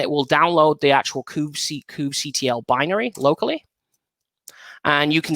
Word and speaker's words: kubectl: Now, lots of people pronounce this in different ways. I pronounce it kubectl. Some people call it kubectl. Some people call it any other kind of way that you want.